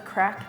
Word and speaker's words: craic: What does the craic mean? What does that? I thought everyone's been saying the craic. The craic. Is it a craic?